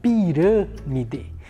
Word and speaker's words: pirâmide: bem e na palavra pirâmide Olha só pirâmide a sílaba hran ela na sílaba mais fez E então quando o timbre da vogal e mais fechado eu utilizo o acento circunflexo muito bem esse essa